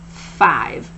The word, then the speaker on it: five: is what they're saying remember to remind your child about the silent e at the end of the word because that e makes this I say its name now an example for